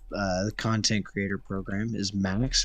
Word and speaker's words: MÆX: content creator program is Max, right? Yes, that's Okay, hello everybody. but it's spelled with a AE sometimes, right? On Right. YouTube. Like Aegon. It's actually Yeah, like Aegon.